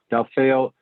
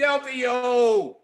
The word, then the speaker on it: Delfeayo: by a truly amazing musical genius and teacher, Delfeayo Marsalis. Delfeayo. I knew I said it wrong when it came out. It slipped. It slipped. Delfeayo.